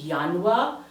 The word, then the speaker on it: Januar: Remember that the letter J makes the Y sound. Therefore, this will be Januar, Juni, Juli.